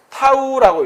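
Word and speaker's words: tau: 그럼 그 돌림 힘의 크기를 보통 우리가 여기 타우라고 읽거든요. 요게 이렇게 좀 작게 보이는데 요렇게 쓰고 읽을 때는 타우라고 읽습니다.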